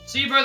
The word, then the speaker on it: placebo: Placebo, the stress is on the middle syllable.